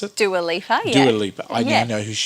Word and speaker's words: Dua Lipa: Is that how you pronounce it? Dua Lipa, yeah.